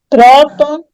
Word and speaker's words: próton: Próton, prótons. Demora? Terminação ON, Não, ONS. Oi? pode ir lá. Então, penúltima sílaba é a tônica, portanto, ela é acentuada, tanto próton quanto prótons.